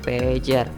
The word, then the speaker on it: pager: yang ketiga adalah pager bukan caranya buat benda ini oleh orang Sunda ya tapi cara bacanya adalah pager pager pager atau penyeranta